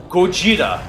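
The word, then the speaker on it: ゴジラ: You know, Godzilla was actually an English pronunciation of the Japanese word. Yeah, right? it's cool. Yeah. It's supposed to be like one of those. Isn't it Godzilla? No, it's Gojira.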